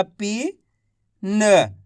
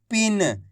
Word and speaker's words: पिन: तो पा का उच्चारण कैसे करेंगे, पा में छोटी ई की मात्रा पी न, तो मिलके बन जाएगा पिन। इस तरीके से पढ़ेंगे पिन, ऐसे नहीं पढ़ेंगे खींच के पीन।